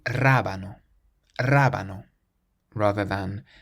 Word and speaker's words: rábano: This next word means radish, and it has an accent on the first A, so we say rábano, rábano, rather than rabano or rabano.